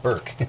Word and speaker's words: Brrke: And his challenge lock number one, Brrke, Brrke, pronounced Brrke.